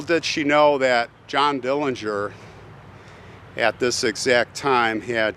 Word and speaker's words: Dillinger: now by the way his name pronounced by the family is Dillinger but we're going to use Dillinger like everybody else and he's staring at